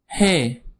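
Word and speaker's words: ح: Next is hey. It's a soft breez.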